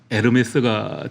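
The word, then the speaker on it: Hermès: 예 창립자의 이름이기도 한데이 헤르메스를 앞에 H가 묵음이잖아요. 그래서 불로로 하면 에르메스가 되는 겁니다.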